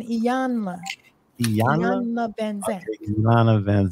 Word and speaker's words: Iyanla: Yeah, so she had a talk with somebody pronounced it's Iyanla, right? Iyanla. Don't forget the N, Iyanla.